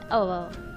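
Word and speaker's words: hour: जैसे एन अवर, तो यहाँ पर एच से स्टार्ट हो रहा है, पर हम इसको ओ से प्रोनाउंस कर रहे हैं, और तो यहाँ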